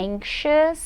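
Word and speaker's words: anxious: em em chás ou bem bem diferente né pronúncia desta palavra se a gente for levar em conta como ela é escrita é incha significa ansioso ansioso Então e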